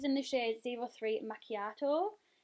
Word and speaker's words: macchiato: the shade zero three macchiato like yatto yeah that's how you pronounce it and it just looks